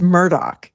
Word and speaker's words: Murdaugh: It's Murdoch. He says it's Murdoch.